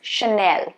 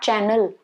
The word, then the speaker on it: Chanel: be a source now this one is chanel not channel there is no double n chanel okay sure not sure